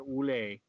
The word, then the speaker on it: Ouellette: Oulet. Don't pronounce the T.